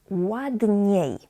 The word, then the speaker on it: ładnie: Ładnie, ładniej. Please remember that I-E is pronounced as IE, IE.